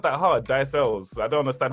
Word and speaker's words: Ailes: Ailes.